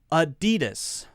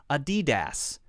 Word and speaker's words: adidas: three syllables adobe products adidas ah d dis now notice that we're not saying the clear a sound this is what's called a schwa we're not saying a DDoS a DDoS it's not a DDoS